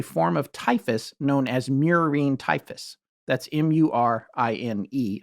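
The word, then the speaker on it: murine: of typhus known as mirine typhus that's m-u-r-i-n-e i might be saying it wrong but i i've also heard miraine independence yeah i am saying it wrong no no i'm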